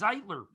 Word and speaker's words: Zeitler: It's Zeitler.